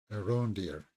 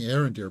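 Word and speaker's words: Arondir: right uh oh Aon deer so he pronounced his name differently I was saying aend deer but Aon deer I'm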